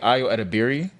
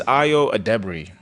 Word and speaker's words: Ayo Edebiri: You know, how we used to say Ayo Edebiri. Yeah. It's not. That's not how you say it. I finally watched an interview about hers with her and Conan. It's Ayo Edebiri.